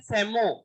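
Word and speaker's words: psammo: या फिर हो सकती है सैंड, सैंड के लिए वर्ड यूज करा जाता है सेमो, पी साइलेंट है, सेमो आगे जोड़, सेमो सीर।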